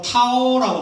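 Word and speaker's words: 桃: 이게 사실은 복숭아를 중국말로 타오라고 말합니다. 타오. 근데 도망간다는 것도 타오라고 읽습니다.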